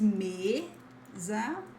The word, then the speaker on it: mesa: It's not me, but just mesa.